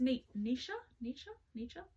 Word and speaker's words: Nietzsche: It's Nietzsche? Friedrich Nietzsche. Please correct me. Please correct my pronunciation.